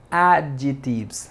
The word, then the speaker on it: adjectives: de hoy es adjectives adjetives no se suena no se pronuncia la letra c no es adjectives no